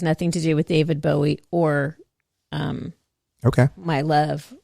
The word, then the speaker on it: Bowie: Wow Bow how do you say what who bowie dude Bowie okay David Bowie China girl good